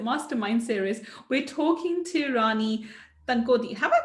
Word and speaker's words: Rani Tankodi: And today on this Millionaire Mindset Mastermind series, we're talking to Rani Tankodi. Have I pronounced your name Yes, right, Rani?